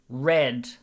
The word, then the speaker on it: read: the english language is we have the same word written the same way but the pronunciation is a little different exactly as lolly said in mawa look at this i read every night read i read every night can you hear the difference read red past tense red like